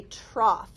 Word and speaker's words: trough: If there's an o u gh in an English word, you have no idea how it's pronounced unless somebody tells you because it could be off o.